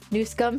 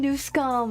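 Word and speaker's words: Newsom: New scum. Say it correctly. Gavin Newum.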